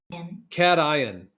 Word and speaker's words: cation: dumbed down version and the pronunciation on the old Google says cation yeah yeah cat ion I I say carry